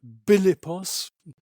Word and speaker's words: Philippos: his parents were Philip philippos um the macedonians pronounced that bilos the pH becomes a b sound and his mother was